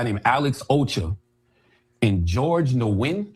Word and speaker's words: Nguyen: These three individuals, Carson McCoy, another guy named Alex Ocha, and George Nguyen. How you pronounce it, Chris? It's Vietnamese name. Nguyen. Nguyen is the closest, yeah.